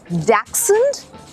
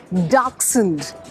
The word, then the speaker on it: Dachshund: हाँ, लेकिन हाँ, इसकी ब्रीड, इसको कहते हैं डैक्सेंड या फिर डार्कसेंड। इनफैक्ट इंग्लिश की spelling is also pretty tough. It's DACHSHUND। It's called डैक्सेंड या डार्कसेंड।